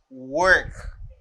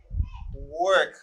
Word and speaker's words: work: The first verb is work, as in bird, as in girl, you know, girl, bird, as in where, work, work.